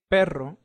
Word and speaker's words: perro: run so let's recapitulate whenever you see a double r or double A it will have a strong pronunciation for example corre that means to run and perro pero that means dog